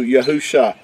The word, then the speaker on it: YAHU Sha: These letters make in Hebrew YAHU Sha.